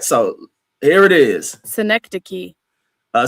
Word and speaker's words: synecdoche: I guarantee none of you motherfuckers can pronounce that word on there. All right, so here it is. Synecdoche. A synecdoche.